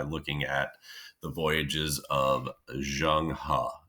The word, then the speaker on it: Zheng He: at the voyages of Zheng He, which is how you pronounce it. It looks like Zhang He, but it's pronounced Zheng He.